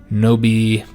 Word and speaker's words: nobilitas: We must decide whether to promote the expansion of this new nobilitas, that's how you pronounce that, as a middle ground, or given to the populist demands for reform.